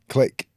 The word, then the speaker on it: clique: Clique? Yeah. Click. The click. I'd say clique.